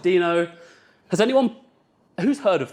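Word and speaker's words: Deno: which is this thing he also calls it demo he is wrong I don't care if he invented it it's pronounced Dino has anyone who's heard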